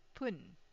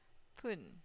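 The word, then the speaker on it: ぷん: So if you have realized I put it here as fun but here it is pronounced as pun. Okay pun.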